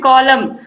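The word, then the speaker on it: column: इसके बाद है अगला question, which letter is silent in the word कॉलम। तो कॉलम में साइलेंट कौन सा वर्ड है? एन है, एन का उच्चारण नहीं हो रहा है।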